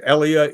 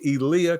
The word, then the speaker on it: Elia: guy was huge and his name is always pronounced incorrectly and he never liked that it's elah everybody says Elia Elia but it's elah Kazan and he was an extraordinary force of